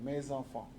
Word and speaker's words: mes enfants: Generally, you make the liaison also, mes enfants.